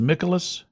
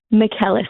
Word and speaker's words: Mickelis: Is your last name pronounced Michelis? Mckelis. It's Greek.